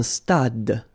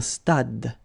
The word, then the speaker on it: stade: Un stade. Same thing here. Final is not pronounced. Un stade.